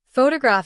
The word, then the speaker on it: photograph: Photograph stress on the first syllable.